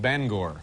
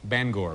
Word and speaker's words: Bangor: town is actually pronounced bangor bangor b-a-n-g-o-r they get your ban and your gore ban bangor but uh since you